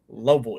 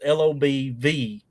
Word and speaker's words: Lobelville: L-O- It's spelled Lobelville, but we say it as Lobel. It's Lobvil.